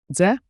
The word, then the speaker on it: Дзе: Z A quick DZE like J with a soft D.